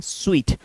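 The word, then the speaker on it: suite: तो आप सोचते होंगे इसको कैसे पढ़ना है? सूट बोलना है। नहीं इसको बोलते हैं स्वीट।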